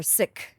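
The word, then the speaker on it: Sikh: in the seik tradition or sick is actually how you say it sick right um s i k h um we had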